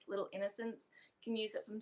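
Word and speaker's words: Little Innoscents: The favorite brand we have for sunscreen is Little Innocence, which is spelled INNOSCENTS. Little Innocence.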